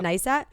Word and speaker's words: Neistat: Neistat?